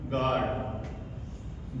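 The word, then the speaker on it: guard: देखिए किसी वर्ड में जी के तुरंत बाद क्या आए? यू आए। और उसके तुरंत बाद क्या आए? स्वर आए। कोई भी स्वर हमारे पांच स्वर है जो ए इ आई ओ यू इन पांचों में से कोई भी यहां आए तो यू हमारा जो है वो साइलेंट रहेगा जैसे जी यू ए आर डी गार्ड जी यू आई डी ए आर गिटार तो देखिए आप जी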